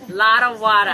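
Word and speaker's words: Lottawatta: Lotawada. I said it right this time. Lotawada Lodge.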